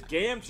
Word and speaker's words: Gamgee: It is Gamgee. Emily had it. Gamgee. Gamgee. Yeah, two E's. There's no J in there.